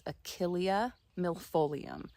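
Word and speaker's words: Achillea millefolium: And I believe that the proper way to say the name of this plant is Achilia milolium.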